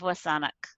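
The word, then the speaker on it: W̱SÁNEĆ: the whole saanich peninsula saanich is an anglicized mispronunciation of wasanak and so i'm oh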